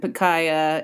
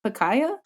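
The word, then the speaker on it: Pikaia: fish is like huis and picaya is that how you say it Paya I say it Paya but Paya Paya tomato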